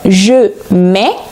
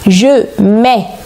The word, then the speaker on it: mets: Je mets, tu mets, il met, elle met, on met. Nous mettons, vous mettez, ils mettent, elles mettent. Attention, les consonnes à la fin des formes ne sont pas prononcées.